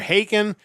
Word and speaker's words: Haken: They are Haken, and their new album is Live Forms, An Evening with Haken.